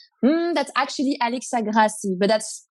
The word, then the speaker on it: Grassies: victoria from both society here i'm here with alexia gracias did i pronounce your name right um that's actually alex agrassi but that's not really easy that one that's